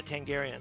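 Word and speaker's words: Targaryen: i didn't watch it tell me gary yeah tangarian there we go michael that's what i said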